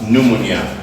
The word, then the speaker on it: pneumonia: This word is pronounced as pneumonia. While the P is silent, don't forget these rules.